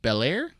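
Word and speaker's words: Bellaire: by matson tomlin uh andrea sorrentino and jorbi belair i i hold on pronouncing that last name it's blair blair um but the art's great story is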